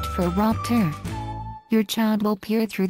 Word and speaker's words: phoropter: Focusing on vision, the large device with a bunch of lenses on it is called a phoropter, pronounced phoropter.